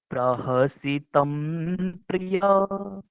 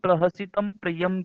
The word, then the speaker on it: प्रहसितं प्रिय: प्रहसितं प्रिय प्रेमवीक्षणं विहरणं च ते ध्यानमङ्गलम् रहसि संविदो या हृदि स्पृशः कुहकनो मनः शोभयन्ति प्रहसितं प्रिय, है ना। बहुत से लोग प्रहसितम प्रियम कहते हैं, तो वो अशुद्ध है ना।